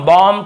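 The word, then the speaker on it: bomb: भी हैं, ठीक है, लेकिन ज्यादातर आप देखेंगे ये सब वर्ड्स में हम एम के बाद बी का उच्चारण नहीं करते हैं। कॉम, बॉम, थम, डम, थंब ऐसे बोलते थे, याद रखिए।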